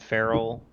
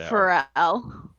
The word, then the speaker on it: Pharrell: Are you and Farrell taking and again, tell me if I am pronouncing that wrong, if it's not Farrell. But Oh, Pharrell. it is Pharrell?